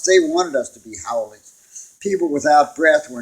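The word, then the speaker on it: haole: that i know is howling pronounced howli meaning without breath it's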